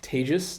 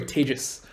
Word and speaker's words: Tejas: hi my name is tejas that's pronounced like contagious or maybe in pandemic times advantageous is probably better either way tejas say with me tejus right and i work